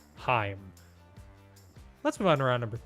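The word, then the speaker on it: Haim: picture of these sisters it's Heim that's how it's pronounced h-a-i-m Heim let's move on round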